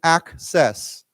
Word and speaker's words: access: Remember with this word you pronounce the C as K C but the second C is a S sound. So let's say again access.